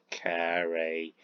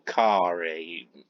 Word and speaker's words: Carrie: knows why she's clever carrie or kari because her name is spelled as c a double r i e kerry kari it's the same name i think carey is possibly my